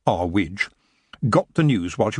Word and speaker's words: Earwig: Earwig, pronounced our witch, got the news while